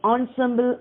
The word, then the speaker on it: ensemble: shahinae was part of the north or traditional ensemble of nine instruments found at royal court so